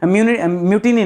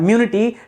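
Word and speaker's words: mutiny: इसके पहले क्या था, सिपॉय म्यूटिनी, म्यूटिनी नहीं यार, म्यूनिटी, ठीक है, म्यूनिटी क्या था दोस्तों 1857 था।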